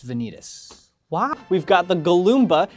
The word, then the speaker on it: Galoomba: We've got the Galoomba. It's more mature than the Goomba, and also its name has an extra syllable and is way more fun to yell.